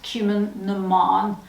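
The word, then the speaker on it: Cumann na mBan: see it and it's spelt cumin bon it's pronounced cumin naman um that's just to help you because it's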